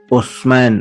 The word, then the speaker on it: Utsman: Nama Islamnya dalam cara pandang pelafalan Arab itu adalah Utsman atau Utsmani.